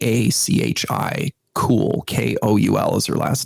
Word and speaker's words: Koul: It's spelled Scaachi. Cool. Koul is her last name.